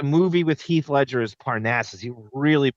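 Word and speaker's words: Parnassus: The movie with Heath Ledger is Parnasses. He really butchered that.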